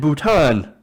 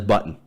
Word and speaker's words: Bhutan: lacking at one meeting Trump allegedly mispronounced Nepal as nipple and Bhutan as button to sources told POLITICO